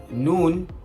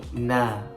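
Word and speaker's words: nūn: a recap is that horus sword is pronounced as sword not saw and noon not na and many more so please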